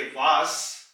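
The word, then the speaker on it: was: को कहते हैं सन जब ये एस किसी लफ्ज के आखिर में आएगा जैसे कि वास वास इसका मतलब है व्ट क्या तो इसकी आवाज एस की निकलेगी जर्मन लफ्ज है वास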